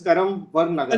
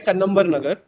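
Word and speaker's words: Kannamwar Nagar: It's Karamvar Nagar. No, it is pronounced as Kannambar Nagar.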